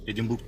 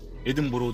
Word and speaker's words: Edinburgh: İskoçya'nın edinburg edinburg edinburg edinburg değil nasıl okunuyor edinboro edinboro diye Değişik bir telaffuzu var oranın ormanlarında içerisinde arabayı